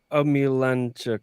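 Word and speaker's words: Omielańczuk: I hate to say it was a disappointing career, but Daniel Omilanchuk. Right. I pronounced that right.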